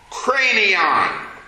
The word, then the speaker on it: Kranion: It's spelled Kranion. Cranion. What English word do you hear when I say cranion?